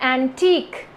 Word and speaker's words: antique: words is antic and antique see it's also pronounced differently the first one is a n t i c antic and the second one is a n t i q u e antique so antic which is